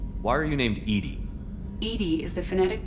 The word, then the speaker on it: EDI: is a jar why are you named Edie Edie is the phonetic pronunciation of of Eed that is an acronym